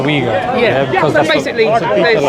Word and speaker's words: Uyghur: Uyghur. Yeah. Some people pronounce it Uyghur. I just go with the Uyghur.